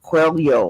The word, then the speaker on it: Coelho: They pronounce his name Paulo Coelho, like there's a Y-O at the end of it. I don't know.